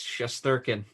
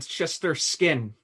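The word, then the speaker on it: Shesterkin: and gorgiev andrew say his name right please chesterkin i said your starsky didn't i no you said chester skin i might have been i might have glitched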